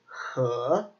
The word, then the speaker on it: 和: So, yeah, anyway, it is pronounced he, he.